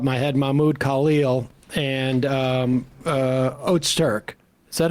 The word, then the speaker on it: Öztürk: the top of my head, Mahmoud Khalil and Öztürk. Is that how we pronounce her name? Yeah, Öztürk.